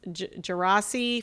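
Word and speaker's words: Djerassi: interesting to me your bio mentioned the just gerasi Fellowship am I pronouncing that right yeah yeah and it just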